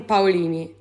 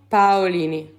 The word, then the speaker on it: Paolini: is the name hi my name is Jasmine Pini Jasmine Pini there you go bini I mean we're saying